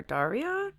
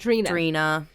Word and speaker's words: Drina: I want to call her Daria. No, that's wrong too. Drina.